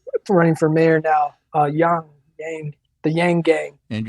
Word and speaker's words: Yang: for mayor now uh young named the yang gang and i believe it's pronounced young but i think he goes with yang which is more americanized but you know that's